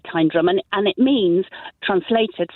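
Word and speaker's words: Tyndrum: correcting my pronunciation it's time drum isn't it it is time drum yeah the um the locals and there are there aren't many locals but they definitely say tyne drum and and it means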